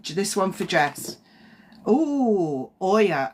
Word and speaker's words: Oya: one for dress oh Oya o y a I think that's how you say it Oya and it's change number